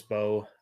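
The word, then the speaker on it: Mbow: Uh Marcus Bo. Um the N is silent.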